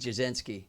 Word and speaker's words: Jasinski: It's weird, but I would say like a social media influencer, musician, Jasinski, and I said it right.